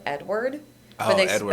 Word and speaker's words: Edouard: Last I saw it, it looked like they just pronounce it Edward.